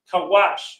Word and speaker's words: Cush: Cush. No, we ain't talking about weed, all right? Okay, don't smoke weed. Not potheads. The son of Ham, Cush, Kawash, means black.